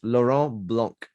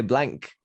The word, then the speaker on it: Laurent Blanc: I think it's Laurent Blanc, we would say. Laurent Blanc. You say blank.